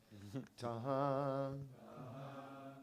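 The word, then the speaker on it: তাহাঁ: The last N is not pronounced, it's Tahan, everywhere.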